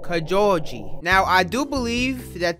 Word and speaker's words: Kojouji: Japan when you're pronouncing Kajal G you actually say that J it's not like Spanish like jalapeno or Javier you don't say jalapeno